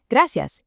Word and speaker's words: gracias: The Spanish, estoy bien, gracias. ¿Y tú? Excellent. Try giving just a tiny slight roll to the R in gracias. It doesn't have to be perfect, just a quick flick of the tongue.